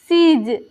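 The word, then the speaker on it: siege: उसके बाद देखेंगे एस आई ई जी ई सीज इसके बाद देखिए ए सी एच आई ई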